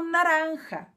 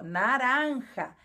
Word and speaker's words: naranja: laranja em espanhol também a cor laranja em espanhol pronunciamos como naranja com o J de novo naranja e a fruta laranja